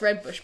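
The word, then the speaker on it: Rooibos: But it is pronounced red bush. But I'll tell you this as a fun fact. Go on. My friend's sister's boyfriend is like really, really posh. Mm-hmm. He pronounces it red bois.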